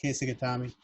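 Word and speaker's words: kesa-gatame: It's Kesagatami.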